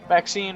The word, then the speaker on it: Maxine: the most Exquisite varieties Maxine rhymes with Queen after all and dearest